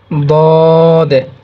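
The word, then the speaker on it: ضاد: অতঃপর দদ, এক নুক্তা হলে দদ, এটা সদের মতোই, জাস্ট এখানে একটা খালি নুক্তা যোগ হয়েছে, দদ, দদ, দদ।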